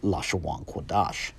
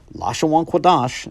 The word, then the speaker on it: Lashawan Qadash: approach to pronunciation, hence Lashawan Qadash. Lashawan Qadash and Loshn Koydesh are the same phrase, just pronounced differently.